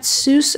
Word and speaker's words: Seuss: dr seuss likes that soos rhymes with mother goose so he adopted that